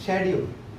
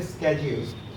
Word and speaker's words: schedule: The correct pronunciation of this word is indict. It's a verb. This is schedule, or you could say schedule, but schedule is correct.